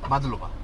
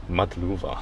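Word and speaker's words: მადლობა: Madluba. Madluba.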